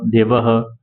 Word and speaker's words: देवः: विसर्ग का उच्चारण ह के समान होता है, जैसे रामः देवः।